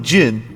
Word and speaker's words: Zen: Your name is Zen. It's pronounced more like Jin than Zen.